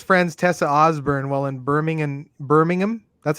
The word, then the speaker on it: Birmingham: So one of his friends, Tessa Osborne, while in Birmingham, that's how they say it, right? Not Yeah, Birmingham.